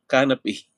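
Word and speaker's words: canapé: Yung accent canape. At least medyo naano siya. Na-improve naman. Hindi siya kan-nate canape pala siya.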